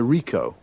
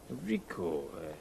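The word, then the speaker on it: Ricoh: It's a Rico. Rico. How do you spell that?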